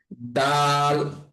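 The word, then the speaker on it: د: তো এই দালের উচ্চারণটা অনেক নরম হবে, এবং দালের উচ্চারণটা করার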